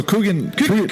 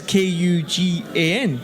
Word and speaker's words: Kugan: didn't it was Kanan I thought it was obviously kugan cuz if you if you see how it's spelled right is k u g a n right kugan right for us but there must obviously be a sort of twang in Sri Lankan is it more for